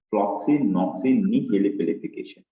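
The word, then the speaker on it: floccinaucinihilipilification: So how you can try the pronunciation of this word is by using the syllable, like floxy-noxy-nihilipilification. But if you try to read it at once, then you may get stuck.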